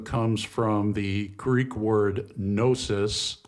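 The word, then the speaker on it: gnosis: from the Greek word nosis the g is silent it's spelled g n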